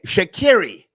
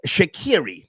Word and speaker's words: Sha'Carri: Okay, Sha'Carri Richardson rewarded for bad behavior by Nike. Folks, the correct pronunciation of her name is Sha'Carri, not Sha'Carri.